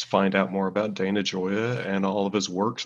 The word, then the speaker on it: Gioia: impossible uh italian surname it's very easy to pronounce it's joya means joy in italian but uh luckily on